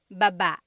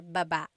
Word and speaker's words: baba: Emphasis is on the second syllable. That means to go down. Baba. Like going down an elevator. Baba.